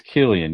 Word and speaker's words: Cillian: It's not spelled with a K. That's all I'm saying. Apparently, it's Cillian.